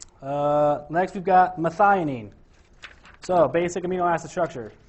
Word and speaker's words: methionine: I just remember it there's four syllables methionine CCSC which is kind